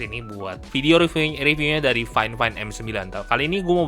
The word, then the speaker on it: FIFINE: Ya, mikrofonnya ini sendiri namanya adalah Finefine AM ya. Bacanya bukan Vivin ya, tapi Fine Fine.